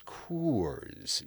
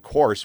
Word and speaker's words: Coors: If you're a Coors drinker, you've always got people telling you it's Coors. You see, you got to get the two O's in, and if you mispronounce it by going course, well, then you're wrong, and you're going to be corrected.